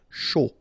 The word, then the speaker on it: chaud: Final D not pronounced, and then when you combine this C and H, you get the sh sound. A and U, O. Chaud.